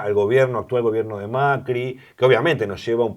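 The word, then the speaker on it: Macrì: la familia presidencial macri cuyo apellido en italiano se pronuncia con un acento en la y que macri y viene de una zona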